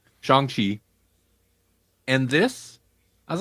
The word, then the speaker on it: Shang-Chi: I couldn't remember the correct pronunciation. Shang-Chi.